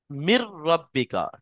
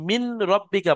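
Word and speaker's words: من ربك: তাহলে এখানে যে নুনটা আছে, এই নুনটা রোয়ার মধ্যে ঢুকে যাবে, গিয়ে মির উচ্চারণ হবে, মিন আর উচ্চারণ হবে না। মির রব্বিকা, কেউ যদি মিন রব্বিকা পড়ে সেটা ভুল হবে।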